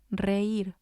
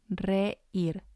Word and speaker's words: reír: And the last example is reír, reír. It means to laugh, and it has 2 syllables, and the I has the accent, so it's going to be stressed. Reír.